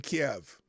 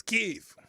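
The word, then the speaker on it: Kyiv: over kiev now yeah you got me saying kiev it's keith that's how the ukrainians pronounce that at least i know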